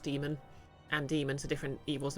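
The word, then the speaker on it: daemon: oh yeah that's true Damon's which is spelled with the um is technically still pronounced demon and demons are different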